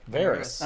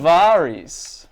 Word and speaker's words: Varys: never really trusting him man you're really sticking to the varus pronunciation huh as oppos as opposed to Varys oh it's fine either one is fine the audio book pronunciation no what's the audio book varis varis uh which is probably infecting